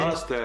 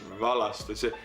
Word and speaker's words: Valaste: Valaste is a Valaste. Like we pronounce the first syllable and he always does the second one.